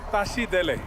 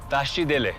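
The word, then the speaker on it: Tashi delek: the morning afternoon or evening yeah you say tashi dele tashi dele tashi and what does that mean like namaste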